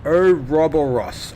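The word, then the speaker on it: Ouroboros: Orus is pronounced oberus.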